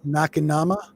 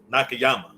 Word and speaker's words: Nakayama: of davey nakama no i always say his name wrong david nakanoma nakayama here we go thank